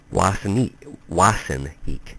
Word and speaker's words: Ossineke: a small town of Ossineke. The Indians pronounced it Wassineke, meaning literally place of the image stones.